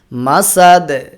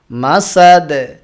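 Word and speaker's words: مسد: করেছি হাবলুম মাসাদে এখানেও দালে কলকলা মাসাদে মাসাদে আর ফি ফা উচ্চারণের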